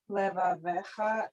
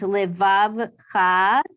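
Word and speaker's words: לבבך: Levavecha and Metzarecha. Yes, Livav. I'm just going to say that the shva is silent because there's just one. So it's Livavcha and Mitzavcha. Very good.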